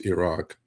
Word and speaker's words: Iraq: Uh but truthfully it's Iran and truthfully it's Iraq. Um that's the way you should pronounce it, you know.